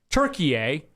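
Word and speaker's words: Türkiye: It says the country is officially and correctly pronounced Turkey, and then it gives the spelling. The official pronunciation is used to distinguish the country from the English word for the bird.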